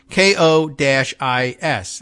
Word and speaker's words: Kois: word is no uh pronounced CO as in Coco right and is as in oh as in geese kois all right it's like